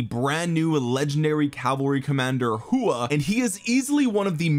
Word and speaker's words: Huo: Also, the other thing we have to find out is how you actually pronounce his name, because apparently his name isn't Ho. I called him a Ho like 50 times in the other video. Huo.